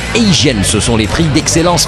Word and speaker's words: AZN: Nous irons également faire un petit tour au AZN prononcé Asian.